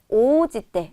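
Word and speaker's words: 応じて: 이렇게 쓰게 되면 얘는 어떻게 읽게 되냐면 니 오지때 라고 읽게 되고 의미는 뭐뭐에 따라서가 돼요.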